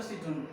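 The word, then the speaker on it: Citroën: It's not a Citroen.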